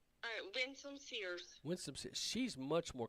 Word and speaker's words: Winsome Sears: How do you pronounce her name? Winsome Sears.